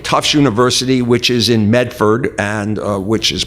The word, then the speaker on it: Medford: i work at tufts university which is in medford and which is pronounced in massachusetts medford so in method we're right next to cambridge massachusetts and there's